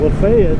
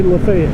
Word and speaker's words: Lafayette: If you're from anywhere else, you might be thinking Lafayette. It's Lafayette. But here we say Lafayette. Just wanted to clear that up because I know there'll be somebody out there wondering what I'm talking about. But it's spelled like Lafayette, but it's Lafayette.